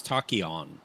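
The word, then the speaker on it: T'Kon: called the Tokyo Alliance is that is that how you say it Fon Alliance no it's takon takon like like a takon particle okay takon well Thomas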